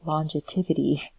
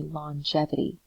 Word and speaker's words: longevity: i also noticed that i mispronounced the word longevity i said longetivity so and if that was a mistake it should be longevity so um l-o-n-g-e-t uh